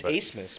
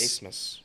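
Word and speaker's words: Abmas: I think it's Asmus, I believe it's pronounced Asmus. The B silent? Yeah, I guess so.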